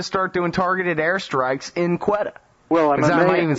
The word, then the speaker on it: Quetta: So maybe it's time to start doing targeted airstrikes in Quetta. Well, am I even saying it right? Yes, Quetta.